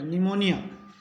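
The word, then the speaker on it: pneumonia: का इसमें उच्चारण नहीं होगा पी इसमें साइलेंट रहेगा निमोनिया पी एस वाई सी एच ओ एल ओ जी वाई तो इसको पढ़ेंगे psychology P एस ए एल एम साम तो इसमें पी का उच्चारण नहीं होगा पहले पढ़ेंगे निमोनिया साइकोलॉजी साम साम का मतलब होता है भजन करना निमोनिया बीमारी या साइकोलॉजी मनोविज्ञान तो पी के बाद यदि ए हो और पी के बाद एस हो तो पी रहेगा साइलेंट ये ध्यान रखना है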